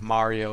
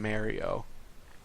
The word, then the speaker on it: Mario: And then you have Mario and Mario. Mario?